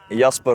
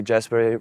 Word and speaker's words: Jasper: so my name is yasper it's pronounced like that they say Jasper but yeah my name